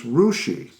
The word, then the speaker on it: Russia: which in Ohio spelled the same way is rushi of course one of the more popular ones